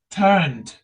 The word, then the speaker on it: turned: E sound is silent here. Turn and then turned.